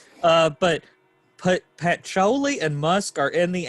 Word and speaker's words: patchouli: long yeah like me said uh but put pat choli and musk are in the air am i pronouncing that right patchouli patchouli okay i was like that it's that